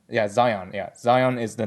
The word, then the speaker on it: Zion: The previous name was Shion, and now based on Zelon's logic, or in English terms, his name is actually pronounced as Zion. Yeah, Zion.